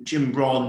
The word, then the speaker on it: Jim Rohn: There's a great, it's not quote, but it's from Jim Rohn, who's Jim Ron, you would see it in English, in England, but in America, I believe it's pronounced Jim Rohn, who's was originally the coach of Tony Robbins.